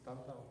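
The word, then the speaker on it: Tan Tao: The name of this is Tantao. Tantao, yeah, so T-A-N space T-O-W. I think that's how it's spelled there.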